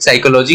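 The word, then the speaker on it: psychology: जो वर्ड बना ये साइकोलॉजी है इंग्लिश का वर्ड तो है नहीं ये ग्रीक वर्ड है इसीलिए अब आपको समझ में ए गया की साइलेंट क्यों होता है पी कहां से आया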